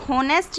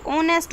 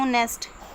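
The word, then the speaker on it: honest: ये होनेस्ट नहीं होता, ये ऑनेस्ट होता है, ऑनेस्ट।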